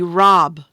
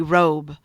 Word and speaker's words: robe: ball bat ball now if I left it like this it would be rob it wouldn't be robe what do I need to add at the end yeah that's silent E right now it's robe